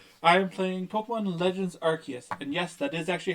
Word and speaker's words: Arceus: I am playing Pokemon Legends Arceus, and yes, that is actually how it's pronounced.